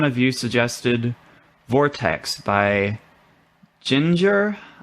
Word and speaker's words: Jinjer: you suggested vortex by ginger um it's not spelt like you know like a pale redheaded person in english but uh it is it's with jay instead of g so that's how i'm gonna pronounce it tell me if i'm